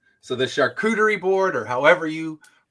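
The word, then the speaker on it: charcuterie: So, the shakuderie board or however you shakurerie. Yeah, that's how you say it.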